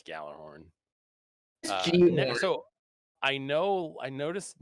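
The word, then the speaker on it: Gjallarhorn: can stay dead that's how you're supposed to pronounce it perk i don't care california um it's gallarhorn so i know i noticed necrochasm is in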